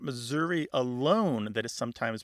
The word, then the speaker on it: Missouri: happening with with Missouri it's possible that there's um that last syllable because it's not stressed it's unstressed it goes from either some value of a short or a long eye to becoming a schah because some missourians don't say Missouri e or Missour they